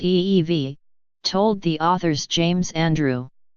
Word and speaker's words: Evey: he had in mind mr. Evie pronounced ee-vie told the author's James